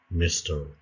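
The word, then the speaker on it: Mr.: إذا تنطقوها مستر وعقلوا MR نقطة ميز نقطة ميسيز نقطة وميس ما كايناش نقطة.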